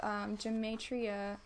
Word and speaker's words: gematria: And so I kind of put this picture, and it says the 20th century 666 because gematria, how do you say it?